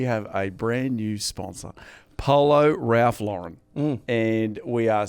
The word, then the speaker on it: Polo: Education First I think a lot of people have been saying Paulo Ralph Lauren yes but for the people in the know yes it's actually Polo Ralph Lauren absolutely we've been saying